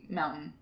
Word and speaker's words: mountain: How do you say mountain? Mountain. Exactly. Like, I've been given a lot of shit because mountain. Because we don't pronounce the T, mountain. Mountain. Yeah, we don't say the T.